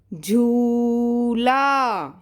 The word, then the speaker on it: झूला: तो सबसे पहला शब्द मैं बोलती हूँ झूला। आप सभी को झूला झूलना अच्छा लगता है ना। तो पहला शब्द हम लिखेंगे झू। बेटा इसको ज नहीं बोलना, ये झ है। थोड़ा प्रोनाउंसिएशन देखो, सुनो ध्यान से।